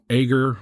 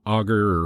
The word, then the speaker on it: Agur: 2 chapters written by a guy named Agur, or Augur, or Agur, depends on where you put the emphasis on which syllable, and the other guy by the name of Lemuel.